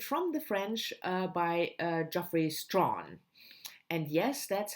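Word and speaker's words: Strachan: And that's Waiting for Tomorrow by Natasha Appener, translated from the French by Geoffrey Strawn. And yes, that's how you pronounce his last name.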